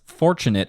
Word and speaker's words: fortunate: The downbeat is on for fortunate. And the next down beat is on the next biggest accent for that word.